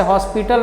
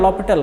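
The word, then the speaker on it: L'Hôpital: लिखते हैं तो लिमिट वैसे हॉस्पिटल नहीं कहा जाता है फ्रेंड उसका नाम है उच्चारण लपेटल कहते हैं ना एक बैलेंस रहता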